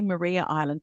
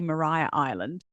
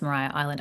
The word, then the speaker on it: Maria Island: I always say Maria Island, but I think locals say Mariah Island. Yes, it's Maria I'm not sure why, but it is pronounced Mariah Island. I don't know why they don't spell it like Mariah Carey spells her name, but yes, it's Mariah Island.